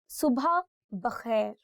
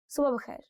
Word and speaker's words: subha bakhair: See, there are two pronunciations for this word. One is subha bakhair, and you can also say subha bakhair. I don't know which way sounds more natural to you, but I think it's more to do with your tongue, how you roll it. So usually I say it like subha bakhair.